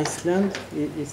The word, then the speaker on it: island: Pisze Island, ale wymawia island. Island is like the middives.